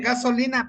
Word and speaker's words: gasolina: Dicen gasolina, perdón, disculpe. Gasolina solo lleva fuerza de voz, ¿o me equivoco? La, No lleva tilde, gasolina.